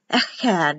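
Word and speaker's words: אחד: was the door so this is pronounced echad like in bach the ch has a sound so it's a had and then when the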